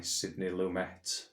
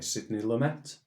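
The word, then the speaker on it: Sidney Lumet: it's not it's actually Sydney lumet um because he is American and not French or Italian so let's open this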